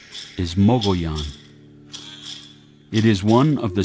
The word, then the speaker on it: Mogollon: but some Mikami people see it spelled and pronounced it the Mongolian Rim some mcgunn from that area pronounce it either muggy on or muggy ons that is wrong also it's true apache pronunciation is mobile yon it is one of the sacred mountain ranges